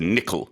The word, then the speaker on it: nickel: Yes, and our pronunciation in English is nickel. So the emphasis is on the first syllable.